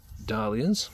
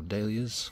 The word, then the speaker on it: dahlias: Those were last year's dahlias, or dahlias, depending on how you like to pronounce it.